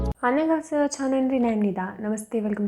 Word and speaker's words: 안녕하세요: तो सबसे पहले हमारे पास है 안녕하세요। 안녕하세요। 안녕하세요 मतलब हेलो हेलो। इसको 안녕 हासेयो ना पढ़ के हम इसको पढ़ेंगे 안녕하세요।